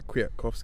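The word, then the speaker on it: Kwiatkowski: how it's pronounced well I understand the elf doesn't get mentioned it doesn't get pronounced on on me so it's not me so because a nail with a line through it so the Polish football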